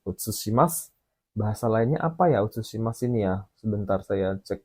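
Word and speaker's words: 写します: Terus yang nomor 3 ini bacanya utsushimasu.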